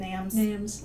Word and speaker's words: NAMS: society nams is that how you say it nams okay perfect great organization super she is also